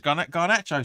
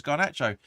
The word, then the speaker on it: Garnacho: Going in over to Malakaya, I think you pronounced that again. Is it? No, it's Garnacho. Sorry, apologies, Garnacho.